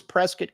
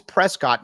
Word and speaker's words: Prescott: for pronouncing it correctly nobody pronounces Prescot correctly even native arizonas it's always Prescott no it is Prescot Dak Prescott is not Dak Prescot just remember that but